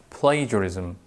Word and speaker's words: plagiarism: Sometimes we see this word is pronounced plagiarism or plagiarism, but the exact pronunciation of this word is plagiarism.